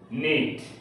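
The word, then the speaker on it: knit: ইউ এল ইজিই নলিস তো এখানে কে এন একসাথে সংযুক্ত হওয়ার কারণে এখানে আমরা দন্তন নয় প্রতি উচ্চারণ করেছি অর্থাৎ কে বাদ দিয়ে এন এর উচ্চারণ করেছি নো নাইফ নিড নলেজ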